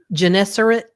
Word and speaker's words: Gennesaret: Gennesaret. Gennesaret?